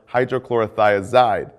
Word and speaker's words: hydrochlorothiazide: Potassium wasting ends in "-ide," like furosemide or hydrochlorothiazide. Both rhyme with dried.